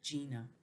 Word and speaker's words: Gina: It makes more of a J, more like a J sound, but it's spelled with a G, Gina.